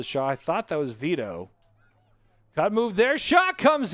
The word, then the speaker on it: Veto: I'm going to go with Vito. It's spelled Vito, V-E-T-O, like as in veto, like a bill. So I'm going to say that it's Vito as his shot comes in over the top.